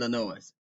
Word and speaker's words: Illinois: Tre said Illinois look he says the S is silent in ill Illinois if it is then why it's